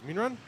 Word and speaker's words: Minrun: Minrun is out of the box. We'll get her name right from now on. She's just corrected us on our pronunciation. It is Minrun. So we'll call it Minrun for now, and she